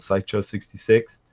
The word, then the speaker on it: SEICHO-66: IndieGoGo campaign right now it's called psycho 66 and it's spelled sei CH zero six six and it's on IndieGoGo